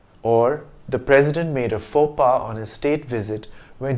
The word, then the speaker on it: faux pas: the singular but pronounced four pars in english though in french the plural is pronounced the same as the singular in english you could